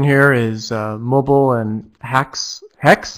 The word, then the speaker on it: haXe: so my session here is mobile and hacks hex it's actually pronounced x it's a it's from Nicholas he's